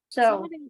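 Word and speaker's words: sew: So. Yes, bacanya so. Jadi W-nya nggak bunyi.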